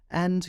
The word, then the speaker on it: a: And yeah, you're kind of right, but that A needs help from other letters. In play, it needs the Y to make the A sound, and in cake, it needs the E.